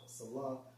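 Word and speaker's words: Selah: Now, when you go into that term Salah, because you see that term in Psalms a lot, in Strong's H5542 pronounced as Salah, which means a technical music term, probably showing pause and interruption.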